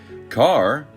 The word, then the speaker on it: Kerr: the front page as carr rhymes with star this is classic hollywood